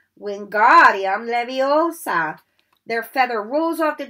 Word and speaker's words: Wingardium Leviosa: Wingardium Leviosa, he shouted, waving his long arms like a windmill. You're saying it wrong, Harry heard Hermione stop. It's Wingardium Leviosa. Make the gar nice and long.